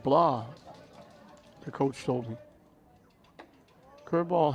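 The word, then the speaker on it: Blais: that was Heaton blah his name is actually spelled like like the blaze family b-l-a-i-s but he pronounces it blah the coach told me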